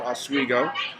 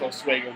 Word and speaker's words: Oswego: He graduated from the State University of New York at Oswego. I think that's how it's pronounced.